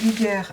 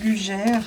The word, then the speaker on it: Luger: lugeres Suisses et des lugeres Allemands euh là on est sur un Luger 9 mm parabelom en français ça se prononcerait lugère Luger je préfère la dénomination allemande alors qu'est-ce qu'on peut